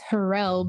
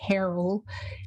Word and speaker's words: Harrell: people mispronounce it it's harrell but people always say harold but it's like pharrell but without the p and then there's a